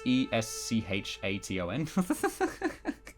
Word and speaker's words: Eschaton: Definitely not on the side of the Eschaton. I still can't pronounce it. I know it's Eschation, but I just can't pronounce it for the life of me.